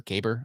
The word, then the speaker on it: Kaiber: I made a lot of this with Kyber. I don't even know how do you say it? Let me know in the comments. How do you say it? It's Kaiber. That's the name of the tool.